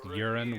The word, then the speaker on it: urine: fish fish and then she pronounced urine with two syllables have you heard a southern person talk urine that's one and a half syllables like i feel like